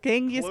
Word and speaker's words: Genghis Khan: Genghis Khan. Close enough. I think that's Genghis an acceptable pronunciation.